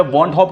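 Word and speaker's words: Van 't Hoff: अब इसको प्रोनाउंस कर लो, वेंट ऑफ कर लो या वॉन्ट ऑफ, कुछ लोग पढ़ देते हैं, ठीक है, कैसे भी उसको आप लोग प्रोनाउंस कर लो।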